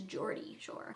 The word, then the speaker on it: Geordie Shore: I used to say Gordy, but I think it's Geordie Shore.